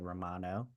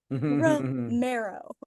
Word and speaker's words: Romero: I I enjoyed that you said Romano like the cheese the cheese rero I do know how to say it so all righty well